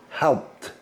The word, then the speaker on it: helped: So, helped, helped. Just got the T sound, right?